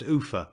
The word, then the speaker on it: Ulpha: The next place of any consequence after leaving Seathwaite is Ulpha, pronounced Ufa by the dalesmen.